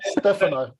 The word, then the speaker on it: Stefano: You've got to get it right. Stefano. That's the right pronunciation.